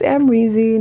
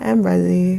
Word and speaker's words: Amrezy: and someone commented like you're saying the name wrong so i was like okay i think it's amrezy not emrezzy whatever i think that was